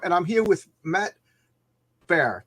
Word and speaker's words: Baher: This is my normal Wednesday chat, 7 Eastern Standard Time, and I'm here with Matt Bear. Did I say your name right? Bar. Yes, great.